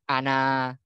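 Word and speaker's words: أنا: di alifnya makanya kan kalau bacanya nggak boleh Ana nggak tapi Ana agak panjang seperti itu adalah contoh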